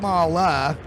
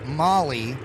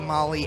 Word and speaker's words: MAHLE: the international arm AKA Molly aftermarket that would be incorrect it is mala aftermarket it is the same spelling but it is pronounced differently in America versus in Germany which is their home